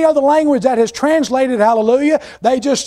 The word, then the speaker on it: hallelujah: and the Breton it's Alleluia well that's the Greek of the Hebrew word hallelujah the H is silent so when the Greek translated it dropped that The Silent Age but